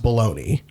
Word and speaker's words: bologna: whose fault is it that bagna is pronounced baloney whose fault probably the